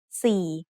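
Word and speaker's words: สี่: It has the high-class consonant ส อ เ ส ื อ with the vowel ส ร ะ อ ี Then the tone mark my ek is written above that. Without any tone symbol, we would have the word si with a rising tone, which means color. But adding my ek gives it a low tone, so we have si, which means 4.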